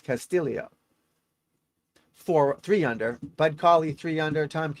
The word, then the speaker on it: Castillo: four under Ricky Castillio it's not Castillo it's Castillo just so you know it's spelled Castillo but it's Castillio four three under Bud